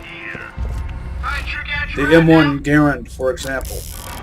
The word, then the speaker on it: Garand: The M1 Garand, for example. For the longest time, I pronounced it Garand, but Ian McCollum says Garand, so. And he's a credible source.